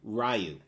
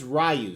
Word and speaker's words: Ryu: Yes, that's how I say his name, RYU.